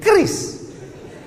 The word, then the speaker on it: QRIS: Cara bacanya gimana sebetulnya? Kris. Q-nya quick. Quick artinya cepat. R-nya response. Kris, quick response code.